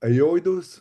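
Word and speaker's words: Aoidos: So I'll check them out and I I'll look up Aoidus.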